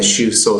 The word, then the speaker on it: Shuso: So I'm not sure if there's one online in terms of where you could find the Shuso Sango Saho. Again, it's spelled S-H-U-S-O.